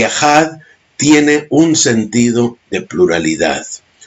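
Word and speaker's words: אחד: concepto es uno absoluto en el hebreo no se dice Yahir se dice ehat y ejad tiene un sentido de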